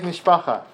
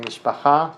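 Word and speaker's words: משפחה: We are one big mishpacha. We're a big family. Okay, mishpacha in Hebrew, pronounced mishpacha sometimes.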